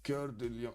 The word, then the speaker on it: Cœur de Lion: Cœur de Lion. Okay, Cœur de Lion. Richard Cœur de Lion. Richard. I'm not gonna pronounce the over there.